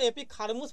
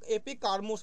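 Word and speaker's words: Ἐπίχαρμος: বলে কেউ কারমুস বলে মানে পার্থক্য আছে উচ্চারণে কেউ কিন্তু এপিক হারমুস বলে কেউ কিন্তু এপিক কারমুস বলে ঠিক আছে তো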